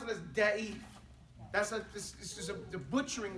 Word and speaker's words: ضعيف: حديث ضعيف He's saying hadith da'if, but your pronunciation is terrible. ضعيف Da. ضعف Da. The letter is dog and the letter is dad. That's the issue that we're talking about here. The difference is the pronunciation of a da sound and the pronunciation of a da sound.